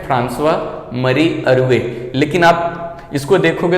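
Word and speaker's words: François-Marie Arouet: Actually इसका pronunciation है फ्रांसवा मरी अरुए, लेकिन आप इसको देखोगे तो आपको काफी डिफिकल्ट होगा प्रोनाउंसिएशन करने में।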